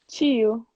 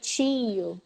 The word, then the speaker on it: tio: Tio. Tio. Tio. Tio. Right? Mm-hmm. Eu tenho um tio. Isn't it? Yeah. So the words like tio and frio, in Minas, we emphasize the I. We say tio.